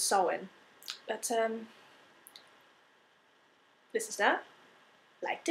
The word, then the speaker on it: Samhain: there was Samhain, or where I say it's Samhain, but I know the proper pronunciation is Samhain.